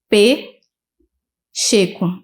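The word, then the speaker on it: Pcheco: O meu Instagram é P. Checo. É de Pacheco, só que o P é mudo.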